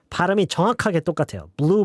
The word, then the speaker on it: blew: guess I blew it blue blue the pronunciation is exactly the same there's absolutely no difference at all blue blue not blue blue just blue same um I feel like